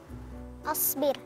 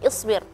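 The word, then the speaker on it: اِصْبِرْ: Asbir. Apa? Asbir. Asbir. Ya, sebenarnya Kak Irfan ee pelafalan harakah di kosakata tersebut asbir atau seharusnya dibacanya isbir ya.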